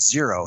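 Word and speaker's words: Xero: of uh New Zealand called Zero spelled with an X X O.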